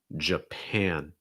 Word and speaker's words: Japan: not france it's france france our next one japan japan again you have that and sound as well in that second syllable first syllable is going to be reduced